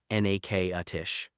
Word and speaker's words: Natchitoches: It's Natchitoches, Louisiana, and it's pronounced n-a-k-a-tish.